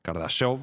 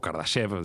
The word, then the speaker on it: Kardashev: ya lo teorizó un un científico kardashov o kardashev según la pronunciación del ruso que tenga cada uno que Jesús